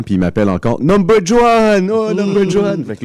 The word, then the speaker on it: Juan: Mais moi, mon nom, c'est Juan, mais tu sais, c'est un J que ça s'écrit J-U-A-N. Ouais, comme en espagnol. Puis en espagnol, c'est Juan, mais les gens disent Juan.